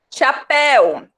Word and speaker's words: chapéu: Chapéu, o som é de el. Se fosse de eu, chapéu, eu nunca queria acentuar.